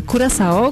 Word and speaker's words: Curaçao: mówi się o wyspie kuraso której to nazwa też potrafi sprawić sporo trudności tak dokładnie Wiele osób ma trudności z wymową natomiast taka oryginalna wymowa to Kuro czyta się przez sz czy to faktycznie jest